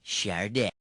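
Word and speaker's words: Sade: the heck do you pronounce that Shard it's pronounced shardo woo nice work you really made the grade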